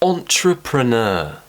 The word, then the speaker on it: entrepreneur: difficult things happening here we've got this or sound at the beginning on entre truck sure so you need to get that tongue moving so we've got two schwa sounds tripura know I'm an